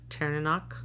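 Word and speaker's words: Tairneanach: I did learn how to pronounce his full name, though. It's Terinino. Teranok.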